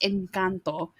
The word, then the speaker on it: Encanto: it's first of all it's pronounced incanto and number two and